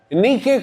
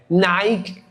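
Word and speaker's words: νίκη: En griego nique como la marca de ropa deportiva. Ahora lo dije en griego, no como usted lo pronuncia eh Nike o Nike en griego es nique y significa victorioso, significa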